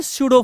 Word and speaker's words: pseudo: इसको हम बोलते हैं स्यूडो force, PSEUDO, स्यूडो force, है ना। देखो ना यहाँ पी साइलेंट हो जाता है, स्यूडो फोर्स।